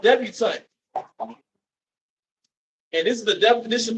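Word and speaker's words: debutante: like etiquette and dealing with daughters it's called debutant and this is the definition for debant and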